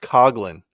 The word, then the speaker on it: Coughlin: It's pronounced Coglin like from Cocktail Coglin's rules.